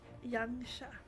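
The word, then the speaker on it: Yanxia: Yansha. I would have never pronounced that correctly.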